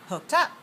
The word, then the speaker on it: hooked up: me watch me say hooked up hooked up hooked up hooked up where's the stress on this word the second one if this phrasal verb